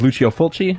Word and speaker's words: Lucio Fulci: I believe the pronunciation of his name is Lucio Fulci, if I'm not mistaken.